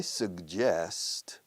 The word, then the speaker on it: suggest: I suggest, pronuncian sugerir, sugiero. I suggest, doble G, pero con diferente pronunciación, la primera con y la segunda.